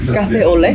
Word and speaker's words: café au lait: He said, café au lait.